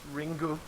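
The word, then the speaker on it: リング: on a novel The Ring Ring which in Japanese is pronounced ringu yep um uh and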